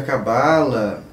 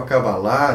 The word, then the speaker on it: Cabala: Há um tempo atrás, algumas pessoas conversaram conosco a respeito de estudos sobre a Cabala, ou a Cabalá, né, dependendo da pronúncia que você queira usar, dentro das casas espíritas, como uma atividade espírita.